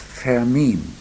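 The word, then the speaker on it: Fermín: The true pronunciation is Fermin.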